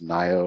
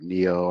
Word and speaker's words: NIO: We'll talk about the theme of the week, which is the trade of the week, which is NIO or NEO, however you want to pronounce it.